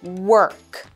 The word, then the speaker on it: work: with an E so make sure you really pronounce that R sound work she has lots of